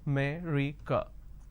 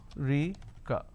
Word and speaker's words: America: Delhi and all that, now the correct pronunciation is, if I have to break it down to syllables, America. So there are 4 syllables, America. Now in northern part of the country, they pronounce this as Rica. So they drop a syllable. Instead of saying America, they say I'm going to America.